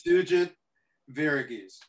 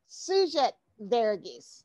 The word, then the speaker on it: Sugith Varughese: It's Sugith Varughese. Sugith Varughese.